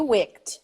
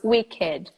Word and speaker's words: wicked: a witch at cetera so it's not it was supposed to be wikked it's not it's wicked another adjective crew kit